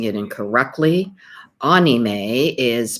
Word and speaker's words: anime: anime i myself have been pronouncing it incorrectly anime is pronounced a-h-k-n-e-e-m-a-y ah and of course that word